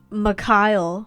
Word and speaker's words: Mikhail: It's Mikhail, I have learned, not Mikhail. I'm sorry, guys. I mispronounced his name in my first video. I said Mikhail, but it's actually Mikhail, like Mick and Kyle together, apparently.